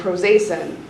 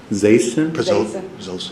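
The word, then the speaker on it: prazosin: Um, and then prosacin. Prozacin. Oh, Prozosin. I'm sorry, my pronunciation's off.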